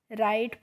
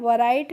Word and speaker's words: write: इसके बाद है WRITE, तो अब देखिए फ्रेंड्स, जब भी किसी वर्ड में आपको W के बाद R दिखे तो वहाँ पे आपको क्या करना है, W का प्रोनाउंसिएशन यानी कि उच्चारण हमें नहीं करना है, तो हमें रा से पढ़ना है इसको। तो WRITE है, तो इसको हम RITE को क्या पढ़ोगे, राइट पढ़ोगे ना, वराइट नहीं पढ़ना है, इसको क्या पढ़ना है,